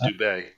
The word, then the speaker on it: Dubay: I think it's supposed to be pronounced Dubay.